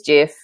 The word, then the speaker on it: GIF: there's a gif a gif sorry I'm saying it wrong and it is Jeff um them's the rules